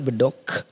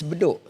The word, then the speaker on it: Bedok: It's not Bedok, it's Bedok.